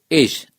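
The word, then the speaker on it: אש: La palabra fuego, en el idioma hebreo es, o se escribe o se dice, esh, E-S-H.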